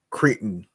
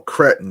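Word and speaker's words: Cretton: The Untitled Columbia Pictures project from director um, um, Destin Daniel Cre- Creighton. No, Cretin, excuse me. Cretin, how you pronounce it, will debut shortly after Avengers Doomsday, which comes out on May 1st, 2026.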